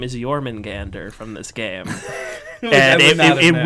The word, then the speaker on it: Jormungandr: You have to hit all 4 syllables hard. And if you tumble down on the Gander, then you're not, like... It's just not the same.